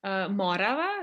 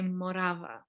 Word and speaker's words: Morava: because whenever I remember I would correct people when they would pronounce certain things like Morava, not Morava, you know, and then he'd be like, but we do say Morava, you know, like we do accentuate the second syllable.